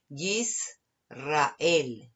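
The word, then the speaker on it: ישראל: que no tiene sheva, y generalmente cuando es la shin o la sin, ya sabemos que ahí hay una sheva, por lo que sabemos que ahí tiene que cerrar la sílaba. Así que ahí la palabra es Yisrael, Yisrael, que es la palabra para Israel.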